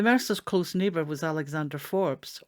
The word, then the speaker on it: Forbes: close neighbor was Alexander Forbes or Forbes in the local pronunciation fourth Lord pit Sligo